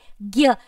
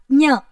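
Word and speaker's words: ज्ञ: In Hindi, we pronounce this in the way gya. It is not Nya, it is gya.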